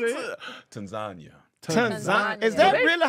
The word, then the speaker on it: Tanzania: Tanzania. Is Tanzania. that really how they say it? Yes. Because it's very much looks like Tanzania. They corrected me immediately. So the A is pronounced like a U.